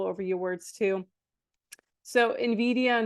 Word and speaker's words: Nvidia: The company's name, Nvidia, pronounced Nvidia, was carefully chosen because of its nuanced meanings, which are tied to vision and envy.